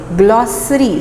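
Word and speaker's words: glossary: एंड the correct pronunciation of this word is ग्लॉसरी, से की sound निकलेगी, ग्लॉसरी।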